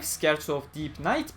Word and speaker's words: Scherzo: People have pointed out that I should not pronounce that as Scherzo because it is Italian, and it's just the German in me screaming when I read that as Scherzo, so I'm sorry. I'll try to get used to not pronouncing SCH as a sh.